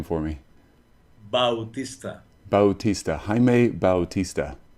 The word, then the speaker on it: Jaime: J okay like absolutely so Hae and then pronounce your last name for me bautist Bautista Hae Bautista Hae Bautista yeah yeah yeah I love that I